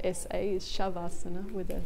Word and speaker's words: Shavasana: it's an essay it depends on Sanskrit it's pronounced SH so shove asana that spelled essays shavasana with a sound it's hard to know unless